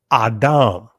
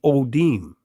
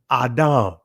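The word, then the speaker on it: אדם: So we see here, and you see the ancient Hebrew pronunciation of this word would be Adam, right? In the Israeli, you see Odim, right? Guess what? It's not Odim, right? It's Adam. Come on, family.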